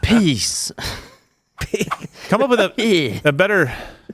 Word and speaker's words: PiS: Their ruling party, Law and Justice, which ironically is piss, is it's one S, but it's still piss. That's pronounced peace.